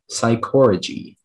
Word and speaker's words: psychorrhagy: Speller 92, your word is psychorrhagy. Psychorrhagy. Can I have the definition? Yes. Psychorrhagy is the manifestation of a person's soul to another, usually at some distance from the body. Psychorrhagy.